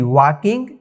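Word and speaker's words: walking: के आई एन जी वाकिंग यहां पे जो है एल साइलेंट हो गया है। एल का उच्चारण नहीं हो पाया है।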